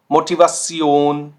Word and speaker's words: Motivation: तो ये हम साउंड करते हैं कुछ ऐसा, सियोन, सियोन। zum Beispiel Motivation, Motivation, Situation, Situation, Funktion, Funktion। तो देखिए ये तीनों वर्ड के एंडिंग में ये कॉम्बिनेशन आ रहा है और ये साउंड कर रहा है सियोन, सियोन, ठीक हो गया।